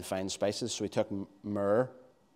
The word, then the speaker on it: myrrh: So he took myrrh. How do we say that in Northern Ireland? That's the right way to say it. Though myrrh and mirror sound the same, don't they?